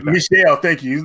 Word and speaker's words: Michel: And since Michael, I forgot how to pronounce his last name. Michel Ancel, something like that. Michel, thank you.